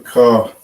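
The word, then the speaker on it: כ: And this is the way you should pronounce this is almost imagine getting ready to spit or to hork up some spit. Right? That sound you would make ha. Ka. Right? That's how you're supposed to pronounce that.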